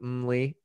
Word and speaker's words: Mmmly: But Nick Naclerio, the founder of Mli, did I pronounce Mli right?